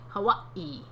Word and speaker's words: Hawaii: Hawaii. Hawaii. That's how you say it. Although, I think that some people in Hawaii say Hawaii.